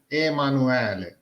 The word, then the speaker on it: Emanuele: It should be pronounced Emanuele. Oh, in Emanuele. Italian.